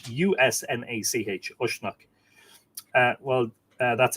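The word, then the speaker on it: Usnach: It's spelled U-S-N-A-C-H, Ushnach. Well, that's Ishnach, of course.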